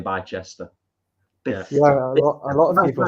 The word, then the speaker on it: Bicester: Yeah, it's pronounced Bicester. A lot of people don't know that.